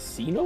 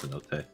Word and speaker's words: cenote: Is it Sino or Cenote? Or Cenote? Cenote. Then okay. Cannot. The E is not silent.